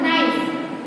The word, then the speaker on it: knife: Okay, इसमें भी KNIFE यानी नाइफ नहीं होगा, क्या होगा, नाइफ। K को हम नहीं बोल रहे, सिर्फ क्या बोल रहे हैं, नाइफ।